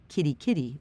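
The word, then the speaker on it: Kaitaia: trail as I could a place called car Cary pronounced Kitty Kitty by locals but it's still 200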